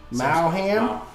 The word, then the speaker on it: Maugham: Maugham?